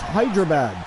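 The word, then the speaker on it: Hyderabad: this is delayed comment but yes it is pronounced hydrabad okay I was saying it right wow that's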